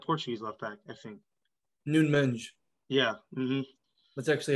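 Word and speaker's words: Nuno Mendes: just send that portuguese left back i think noon menge yeah that's actually how you say it shout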